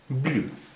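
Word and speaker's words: blanc: Masculine singular, इसका उच्चारण है ब्लां। फेमिनिन सिंगुलर है, इसका उच्चारण है ब्लांश, ब्लांश, ब्लां ब्लांश सफ़ेद।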